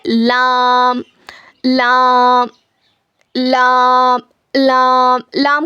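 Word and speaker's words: ل: लाम लाम लाम। लाम का क्या मखरज है? देखिए। जबान के किनारे को सामने के चार दांतों के मसूडों में लगाने से लामादा होता है।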